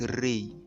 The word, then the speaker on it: Ra: The word Ra is the name of an ancient god called Ra, pronounced Re.